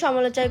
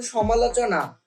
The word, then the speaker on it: সমালোচনা: সমালোচনা করেন তারা শুধু সমালোচাই করতে পারবেন কি কি করে কি করে সমালোচনা করেন তারা শুধু সমালোচাই করতে পারবেন আরে এইটার উচ্চারণ সমালোচনা এইটার উচ্চারণ হলো আলোচ্যমালোচনা